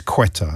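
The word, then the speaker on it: Ceuta: It's quetta.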